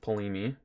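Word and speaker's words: Ptolemy: The 7th Polemy, assuming the T is silent.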